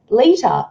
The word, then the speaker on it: Lita: choose a character and i chose lita but at that time i pronounced it as litter because i hadn't seen anything on tv so i'm like i